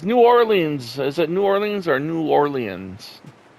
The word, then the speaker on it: New Orleans: just say, it's like everyone has their own pronunciation for their hometown or their whatever, but New Orleans. I have a friend that is Cajun, and that's exactly how she says it.